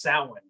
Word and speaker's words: Samhain: Like what killed me about that is how they mispronounced Samhain.